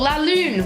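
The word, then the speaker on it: lune: English I'd be like oh laoon which is how you say moon in French is really G tonight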